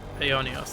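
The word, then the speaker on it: Aionios: Ionios, that's how they pronounce it.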